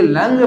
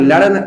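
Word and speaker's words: लङ्: इस्तेमाल कर रहे हैं, इसीलिए लंग पढ़ते हैं। लंग लकार, ला ला अड़ा नहीं, लड़ नहीं पढ़ते हैं, लंग लकार पढ़ते हैं, ठीक है।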